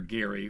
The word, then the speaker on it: Gerry: The Gary family, descendants of Governor Gary from Massachusetts, 1811, wish it was called gerrymandering. He pronounced his last name Gary. I actually did not know that. Hard G.